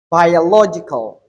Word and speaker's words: biological: international, inspirational, historical, philosophical, biological, biological. So here we have the stress on the second syllable, which is law.